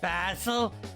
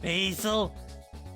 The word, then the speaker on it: Basil: a fun fact anyway i prefer you pronounce it basil not basil basil sounds nasty pause it no problem